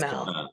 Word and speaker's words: Kamal: And am I pronouncing that correctly? Kamal. Yes, Kamal.